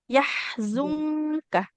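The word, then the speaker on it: يحزنك: Untuk bacanya di sini sedikit tadi di huruf zai-nya juga yahzunka. Yahzunka. Dia kayak huruf Z ya, zazizu.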